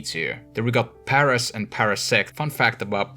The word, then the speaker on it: paras: Then we got Paras and Parasect. Fun fact about Paras, the word Paras is a word in Finnish, it's called paras. That's how you pronounce it, and it means the best.